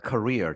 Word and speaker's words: career: 영어에 이게 캐리어가 아니라 발음이 career입니다. career 직업 혹은 경력이라고 그러죠.